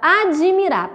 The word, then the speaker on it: admirar: Bom, então se vocês perceberem aí, quando você pronuncia a palavra admirar, parece que depois desse D terá um I, né? Mas não, porque essa letrinha D aí, ela é muda, né?